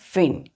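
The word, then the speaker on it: feign: हमने देखा था बच्चों फिन एफ ई आई जी एन जी साइलेंट है यहां पे फिन फिन का मतलब होता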